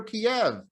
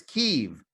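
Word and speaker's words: Kyiv: to pronounce its capital it's no longer kiev it's kiev that's how the ukrainians say it and we might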